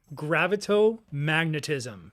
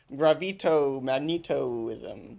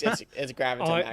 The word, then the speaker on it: Gravito-magnetism: Gravito-magnetism. How did I do, announcer? That was brilliant. I mean, it's different how I would pronounce it. I'd probably go gravito-magnetoism, but it's actually, yeah, you're right. It's gravito-magnetism.